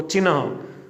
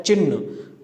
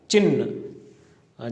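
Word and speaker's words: चिह्न: ये शब्द है वो बिल्कुल अशुद्ध है। इसमें न आधा न होकर के ह आधा है और इसका जो शुद्ध उच्चारण होता है वो होता है चिन्ह। तो इसमें ह को हलंत किया हुआ है या ह के अंदर न मिला करके भी लिखा हुआ है। तो सही इसका जो उच्चारण होगा वो होगा चिन्ह।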